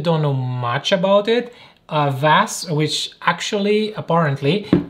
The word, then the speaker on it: Vass: of you that don't know much about it vas which actually apparently it's pronounced something like vosh with a much deeper ash h at the